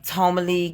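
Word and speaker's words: Ptolemy: the last days of Tomy gray to me t o l e m y but the p is silent but it's spelled PT o um l e m y I didn't even spell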